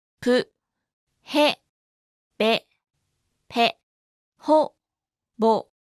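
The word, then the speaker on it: ボ: Ho with a dakten is pronounced bo, ho, bo, ho, bo.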